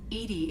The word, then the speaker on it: EDI: what's your name edie edie is the phonetic pronunciation of edi that is an acronym